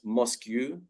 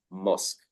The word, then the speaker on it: mosque: We pronounce it with it sounds like a K, mosque. So again, this is another word with strange spelling, Q-U-E. It is not mosque or mosque, it is mosque. Yeah, so the pronunciation is mosque. And there are many words with Q-U-E, but they are pronounced like the letter K, mosque.